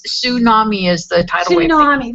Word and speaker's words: tsunami: And it's tsunami is the title wave. Tsunami. Yeah, I always forget tsunami. That T's is silent.